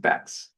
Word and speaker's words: Bex: Bex, pronounced Bex. There's no hex in Bex, or there may be if it's canceled.